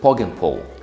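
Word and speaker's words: Poggenpohl: Brand of the kitchen is actually, if I'm right, you pronounce it Pog and Pull.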